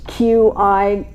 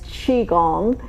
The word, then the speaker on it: Qigong: I usually have to say, when you see it spelled, it's Qigong. With the Q, you usually pronounce that as a CH. So pronouncing it as Qigong.